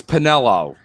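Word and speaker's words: Penello: uh by the way you say his name wrong the same way people say Mario wrong it's it's penelo it's not Mario Mario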